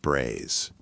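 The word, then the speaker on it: braies: Men's underwear came in the form of braise, pronounced braise.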